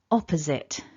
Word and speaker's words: opposite: for is opposite opposite with stress at the beginning opposite okay so even though it looks like sight it's not is it that's the takeaway point